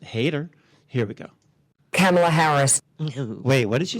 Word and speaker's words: Kamala: Harris camela camela Harris oh I guess all this time I've been saying it wrong it's it's it's camela about these people who